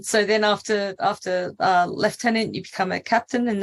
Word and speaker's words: lieutenant: as an officer uh you're a left tenant and by the way I I do say it correctly in the Army there they're a left tenant in the Navy they're a lieutenant and they they're not